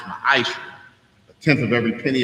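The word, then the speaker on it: מעשר: Means tenth in the Hebrew and is pronounced ma'asher.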